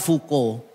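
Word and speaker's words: Foucault: Namanya itu F A U C A U L T. Fau Cult. Bacanya fuko.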